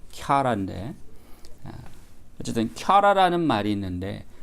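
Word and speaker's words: χαρά: 영어식 발음으로 하자면 카라라고 할 수 있을 것 같아요. 카라라고 읽을 수 있을 것 같은데 본래 그리스어 발음은 캬라인데 어쨌든 캬라라는 말이 있는데 그 캬라는 두 가지 의미가 있습니다.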